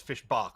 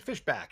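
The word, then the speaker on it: Fischbach: Although Emily Flippen, who apparently is watching, goes says fishbach, which I'm sort of charmed by, but fishback is the official pronunciation.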